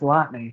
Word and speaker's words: Lotney: I said your name incorrectly. It's pronounced Lotney. You Lotney. never know. That there's a T.